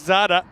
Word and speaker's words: Zada: give us a second here's Zada which rhymes with NADA actually he's going to